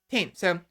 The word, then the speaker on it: Thames: h iCandy is it do I pronounce the h or no team so teams right the River Thames I